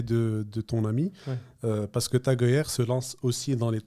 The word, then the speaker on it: Tag Heuer: à une boîte qui fait des montres, donc Tag Heuer, c'est ça, je le prononce? C'est Tag Heuer, oui.